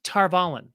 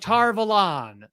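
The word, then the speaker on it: Tar Valon: in the audiobooks, all the classic ones, it's pronounced Tarvalin. And that's how they say it. Tarvalin. They go to Tarvalin. And then you get to the show and they're like Tarvalon.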